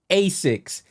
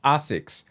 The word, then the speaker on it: ASICS: I always say ASICS, but the actual Japanese pronunciation is ASICS.